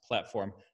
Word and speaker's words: Platform.sh: for and I usually tell people it's correctly pronounced a platform but it's it emanates from a insider joke